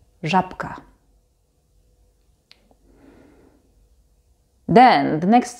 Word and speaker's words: żabka: And in the example żabka, żabka, here again the b is actually pronounced as p because it's next to k, and k is a voiceless consonant.